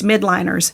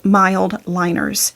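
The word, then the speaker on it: Mildliners: A lot of people call these midliners, but they're pronounced mild liners.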